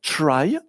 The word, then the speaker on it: trie: On prononce souvent try, pour ne pas confondre avec un tree, un arbre, mais vu que c'est